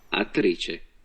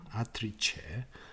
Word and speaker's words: attrice: attrice, attrice, attrice, 특히 이탈리아에서 C가 츠로 발음 나죠. 그죠? 아트리체, 아트리체, 아트리체. 한번 더 들어보겠습니다. attrice, 아트리체, 체로 발음이 됩니다.